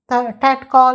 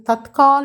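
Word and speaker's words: तत्काल: உச்சரிப்பதற்கு அப்படித்தானே போட முடிகின்றது எனவே அதையே டேட் கால் என்று கூறிவிடுகின்றார்கள் அது தற்கால் என்று சொல்ல வேண்டும் துரந்த் அல்லது தற்கால் சரியா புரிந்ததா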